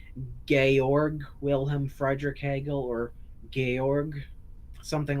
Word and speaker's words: Georg Wilhelm Friedrich Hegel: People say his name is George Wilhelm Friedrich Hegel, except properly understood in the way that it's pronounced in German, his name should actually be called Georg Wilhelm Friedrich Hegel or Georg, something like that.